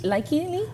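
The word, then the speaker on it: Lykke Li: Is it Leaky or Likey? Likey Lee. Likey Lee.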